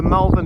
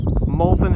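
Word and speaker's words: Malvern: So, views over to the Melvin Hills. Molvin Hills, I think, is pronounced correctly.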